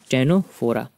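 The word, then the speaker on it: Ctenophora: ये भी सी से स्टार्ट होता है लेकिन सी साइलेंट है। टेनोफोरा, प्रॉपर्टी क्या है इसकी?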